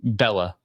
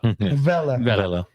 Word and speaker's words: Vela: I keep thinking you're saying Bella, but Vela, which is Be Pequeña.